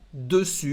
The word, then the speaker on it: dessus: Il est sur la table o il est dessus. Otra vez, una palabra diferente. Hay que cuidar porque la S final no se pronuncia.